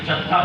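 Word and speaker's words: جدة: हम जद्दा पहुंच गए। अब आज इसको भी समझते चलें, जद्दा इसे क्यों कहा जाता है? इसके कई प्रोनाउंसिएशन है। इसे जद्दा भी कहा जाता है, इसे जिद्दा भी कहा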